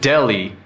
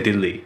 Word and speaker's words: Delhi: We don't say Delhi. Delhi, like DELI.